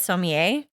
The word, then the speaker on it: sommelier: A certified sommelier. Sommelier. Like, it just reads to me like maybe he could be a little full of himself and maybe rub people the wrong way. Maybe. Sommeliers could definitely do that.